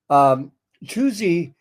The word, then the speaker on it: Tuzi: She has a beautiful voice, and Tuzi. A lot of people will pronounce that Tuzzy. Just think of in pronouncing her name, think of Terrible Tuesdays.